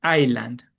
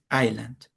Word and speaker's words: island: An island is pronounced island. We don't pronounce the S. It's island.